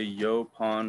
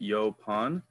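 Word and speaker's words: yaupon: next year we're gonna talk about is a yo pawn Holly that's how you pronounce it yo pawn um so this is an example of a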